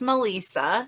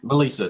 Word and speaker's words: Melissa: just gonna clear up my name is actually pronounced Melissa Melissa sorry that's what I